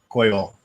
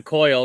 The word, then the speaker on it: Coyol: So it's pronounced Coyol? Coyol. Okay. So if you want to know how everything is mispronounced, just watch the Bourbon Junkies. Specifically, Sean. Of course. That's why I'm calling it a coil, because that's what dumbass calls it. So I'm like, yeah, it's a coil.